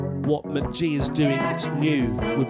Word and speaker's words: Mk.gee: Okay, I can see that his EP released in 2018 was called pronounced McG.